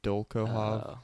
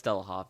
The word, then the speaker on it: Dolokhov: I can't pronounce this. Dolkohov.